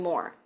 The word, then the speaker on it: Mohr: So, on all of social media, every single one of them, I am Moore Music. My last name is spelled M O HR.